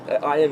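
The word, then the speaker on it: עין: It's the letters in sequence to discriminate between the letter ayin, ayin is the way it's actually pronounced, and it's not the aleph, which is actually silent.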